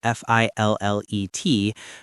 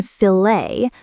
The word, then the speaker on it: fillet: In British English, it's fillet with a clear t. In American English, often filt because of French influence.